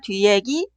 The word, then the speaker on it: 뒷얘기: Por eso, escribir y pronunciar 뒷얘기 son incorrectos.